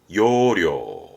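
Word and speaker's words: 要領: 발음은 요료.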